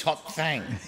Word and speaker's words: Hot Thang: It's not Hot Thing, it's Hot Thang. you've got to get the pronunciation right, Phil.